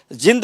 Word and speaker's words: जींद: और पहले तो आपका प्रोनाउंसिएशन ठीक करा दूं, ये जिंद नहीं है, जींद है। थोड़ा सा बाहर के लोग इसको जिंद बोलते हैं, ये जींद है।